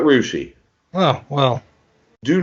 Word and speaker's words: Russia: Russia. We call it Rushi.